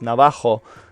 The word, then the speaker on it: Navajo: and of course in in spanish it should be pronounced navajo but a lot of